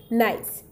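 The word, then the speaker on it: gneiss: e l i s s that is pronounced pronounced as nice tk so the metamorphic rock made from gray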